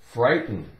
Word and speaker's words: frightened: the word frightened frightened f RI gh silent te n so we have foot rub i FRA pride TEM 10 frightened frightened we don't really make much of the sound with that teeth more like frightened frightened T is pretty much silent too but the point